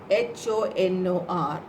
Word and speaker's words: honor: So when you're pronouncing it, H-O-N-O-R, you won't say ha. If I say hat, how will you pronounce it? Ha sound is coming, hat. But honor, when you say honor, H is silent.